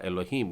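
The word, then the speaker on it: אֱלֹהִים: ये अलेफ है और नीचे बिंदुओं का जो आकार है वो ए का उच्चारण लेता है। लामेद में बिंदु ऊपर डला है मतलब ये हो जाएगा लो। फिर उसके बाद में है हे, नीचे एक बिंदु है और योद, तो हो जाएगा ही और फिर फाइनल मेम डला हुआ है तो ये हो जाएगा ए लो ही म, एलोहीम यानी कि परमेश्वर।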